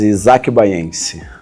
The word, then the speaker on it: Isaque Bahiense: What's the correct pronunciation in Portuguese? isaki bayangi.